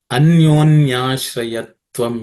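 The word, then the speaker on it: अन्योन्याश्रयत्वम्: Anyonyashrayatvam ityanye. Anyonyashrayatvam ityanye. Anyonyashrayatvam ityanye. In terms of pronunciation, there are no aspirated consonants in this. So it should be simple, but it's one large, long word.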